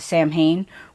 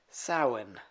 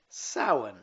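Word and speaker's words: Samhain: Break it in two. The first syllable is sa. That rhymes with cow.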